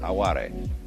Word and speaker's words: aware: is called aware it's spelled like our word aware only pronounced awari and this like you